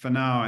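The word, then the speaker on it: whānau: And the last one is pronounced whanau, and that means being a good ancestor.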